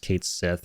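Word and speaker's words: Cait Sith: think it should be Kate Sith right um especially since I think not long ago squarex themselves came out and said that it's actually going to be pronounced Kate Sith right so the whole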